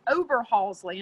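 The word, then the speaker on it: Oberhasli: the other breed it's a swiss breed it's over halsey and i made i may botch the pronunciation it's o b e r h a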